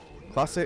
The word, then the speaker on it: Clase: have you ever tried clase azul and that was me not throwing god hand and dying clase is a represado it's spelled like it sounds c-l-a-s-e and azul and it's